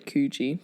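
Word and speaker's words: Careggi: Or I think it's actually Cugi, pronounced Cugi anyway, and a full professorship at their medical school.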